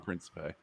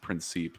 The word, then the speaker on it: Principe: Also, fun fact about John, everybody, is that we've been pronouncing his last name wrong the whole time. It's actually pronounced Principe.